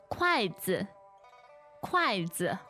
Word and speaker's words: 筷子: 筷子，筷子。筷子. 对 And let's leave it at that. 筷子 means chopsticks. Good enough. Yes, but we can look at the pronunciation. Okay. It's fourth and neutral tone.